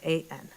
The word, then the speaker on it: Hapeman: Hapeman, and thank you for pronouncing it correctly. Hapeman.